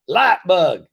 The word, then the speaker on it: Lytebug: by getting lap bug that's right light bug and that's spelled l-y-t-e light bug uh it's amazing this